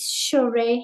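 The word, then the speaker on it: Shohreh: Hi, my name is Shereé.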